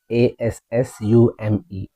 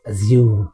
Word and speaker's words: assume: The first word for today is a s s u m e. Generally we will pronounce it as assume. It's incorrect. The right way is assume. assume in UK and assume in US.